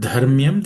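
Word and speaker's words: धर्म्यम्: The word dharmyam, the first letter dha is aspirated.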